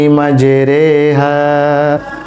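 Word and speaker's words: مَجْرٖىٰهَا: কিন্তু পুরো কোরআন মাজিদে একটি জায়গায় যেখানে আমরা জের উচ্চারণ করব বাংলায় একারের মত যেমন 12 পারার পাঁচ পৃষ্ঠায় সূরা হুজ শরীফের 41 নং আয়াতে আল্লাহ রাব্বুল আলামিন ইরশাদ করেছেন বিসমিল্লাহি মাজরে এই রনি খাটা জের র নিচে খাটা জের এই খাটা জের এটা উচ্চারণ করার ক্ষেত্রে বাংলায় একার উচ্চারণ করতে হবে স্বাভাবিকভাবে আমরা যখন জের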